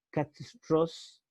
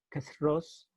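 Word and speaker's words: קַתְרוֹס: se escribe kitara, y en hebreo se escribe, se leería en arameo en realidad, katros, la E casi no se pronuncia, katros, es en realidad, se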